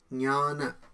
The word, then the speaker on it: জ্ঞান: প্রথমে বলে দিই, সংস্কৃতে এই শব্দের উচ্চারণ হবে জ্ঞান। এটা জ্ঞান নয়, আর এটা জ্ঞান নয়, জ্ঞান জ্ঞান।